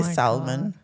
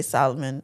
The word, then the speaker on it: salmon: Oh, side note, I love that you say salmon cuz I say salmon and everybody comes for me for saying salmon cuz they say the L is silent.